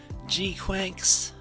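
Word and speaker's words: GQuuuuuuX: It's pronounced like Quacks, right? G Cooks. I always see it and think G Cooks though. G Quacks.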